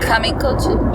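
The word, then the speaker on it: Kamikōchi: Kamikouchi?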